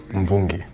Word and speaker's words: Mvungi: Is it Mvungi or Mvungi? Mvungi. Mvungi. Yeah. So it's basically the same as Zimbabwe, Yeah. the syllables.